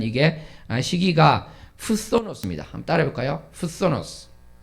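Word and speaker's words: φθόνος: 푸소노스. 네, 발음이 쉽지는 않은데 굳이 또 왜 했냐면은 그 다음에 나오는 살인이 포노스입니다.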